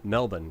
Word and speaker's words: Melbourne: the way from your Melbourne now right yeah are they I didn't say it right it's Melbourne right yeah yeah pretty much just just drop most of the bells alright and then we've